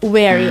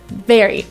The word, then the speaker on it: very: in the word very we kind of touch our lip a lower lip with our upper teeth so let's try it together very so now that you've